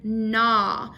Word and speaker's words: gnaw: like in the word nah nah is g-n-a-w like um the dog was gnawing on the bone that's g-n-a-w but the g is silent so if you see